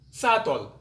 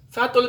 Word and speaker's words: subtle: to the letter b b is silent before t and after m for example dao subtle subtle means bright dead lamb